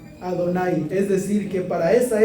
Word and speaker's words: Adonai: Porque cuando vemos nosotros en los rezos el nombre Yud-He, Vav-He, ¿cómo se pronuncia? Adonai.